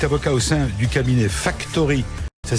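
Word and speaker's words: Factorhy: En deuxième partie, tout à l'heure, nous aurons le plaisir de recevoir Marc-Antoine Godefroy, qui lui est avocat au sein du cabinet Factory. Ça s'écrit F-A-C-T-O-R-H-Y, vous avez compris.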